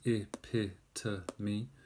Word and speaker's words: epitome: But if you don't, it's split up into 1, 2, 3, 4 syllables. Epitome. Okay? Epitome. Epitome. What it's not is epitome. It's not correct to say epitome. All right? It has 4 syllables.